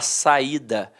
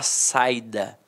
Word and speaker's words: saída: Agora aqui, se eu tirar o assento, eu não vou falar saída, eu vou falar saida.